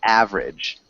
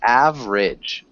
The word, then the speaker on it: average: repeat tornadoes tornadoes nice ohs and average average both just two syllables average average average good better